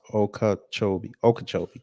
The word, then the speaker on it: Okeechobee: It's pronounced Okeechobee.